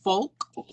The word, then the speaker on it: FOLX: It's called FOLX, but it's spelled with an X, FOLX.